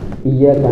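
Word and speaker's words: إياك: Iya iya nampak tasdid di huruf ya. Yaitu andai kada tasdid pun kita tuh dituntut untuk menjelaskan pengucapan ya. Kenapa? Dia berada satu makhraj dengan huruf syin dan ya. Pertengahan lidah naik ke atas langit-langit.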